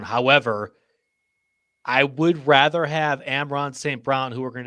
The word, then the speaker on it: Amon: Amon.